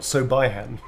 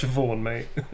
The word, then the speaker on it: Siobhan: That's actually Siobhan, not Sobihan. There's a lot of people go, Sobihan? It's like, no, it's Siobhan, mate.